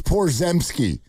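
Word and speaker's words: Porziņģis: Uh Porzingis if I sorry if I butchered that name. Yeah, it's Por it's Porz it's Porzki.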